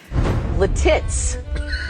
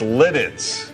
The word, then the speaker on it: Lititz: Lititz. What? No. No, it's Lititz. Lititz. You were in the ballpark.